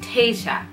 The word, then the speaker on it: Tayshia: Tayshia as a girl's name is pronounced Taysha, which is how we pronounce her name as well.